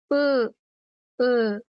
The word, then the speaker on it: うん: No, it's pronounced as u, u, But yes, it's pronounced Ah, I see. So you kind of go up and down with the pronunciation, with the tone.